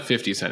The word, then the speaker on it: 50 Cent: day in 2005 so 20 years old today 50 cents the massacre album which gave us among other